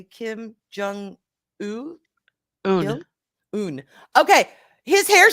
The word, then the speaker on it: Kim Jong Un: Kim Jong Un.